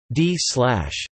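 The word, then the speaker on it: ∂̸: partial underscore mu display style partial big is pronounced d slash.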